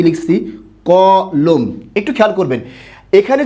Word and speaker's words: কলম: হিসেবে খেয়াল করুন তো আপনি যখন বলেন আপনি কি বলেন আমাকে একটি ক লম দাও নাকি ক লম দাও লম না লোম লম না লোম ক